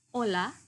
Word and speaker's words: hola: Halo itu kita bacanya hola, jadi H-nya silent ya. Hola gitu.